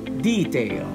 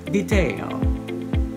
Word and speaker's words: detail: Number nine, let's look at the word that in British English, they tend to pronounce it detail, detail. In American English, we tend to pronounce it detail.